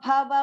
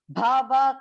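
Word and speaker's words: भव: Manmana bhava madbhakto. Manmana bhava, completely pronounced. Bhav, no, bhava.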